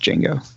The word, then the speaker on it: Django: Django just says as addy but it's just Django isn't that the game you play with the